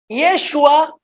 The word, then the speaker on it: Yeshua: de Nazaret rey de los judíos que se pronuncia en hebreo como está arriba yeshua hanochri vemelec A yejudín qué significa Jesús arriba